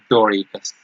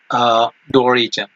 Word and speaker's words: Dorigen: ballad of ancient Brittany, Doricus. If I have not pronounced well, I'm sorry for that. It is the yes, Dorigen. Dorigen. The pronunciation of this word is Dorigen.